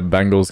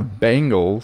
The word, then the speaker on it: Bengals: It's not Bengals. Yeah, Bengals, like Bane, like the Batman character.